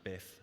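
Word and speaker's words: biiif: this is the tool it's called build Tri but Ed tells me you can just pronounce it Biff which is fine and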